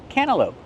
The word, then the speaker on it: cantaloupe: It's called a cantaloupe. What about the letter T? Well, when you have N T between vowels, you don't really hear the T. Cana cantaloupe.